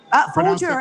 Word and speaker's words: Folger: I pronounced the Folger correctly, right? Folger, as in, yeah. Yeah, the coffee thing.